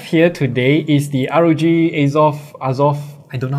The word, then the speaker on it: Azoth: what we have here today is the Rog azov azov I don't know how to pronounce it it's off it's off okay it's off we go it